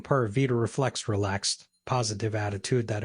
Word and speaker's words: Pura Vida: And by the way, Tico's pronounced V as B, so Pura Vida.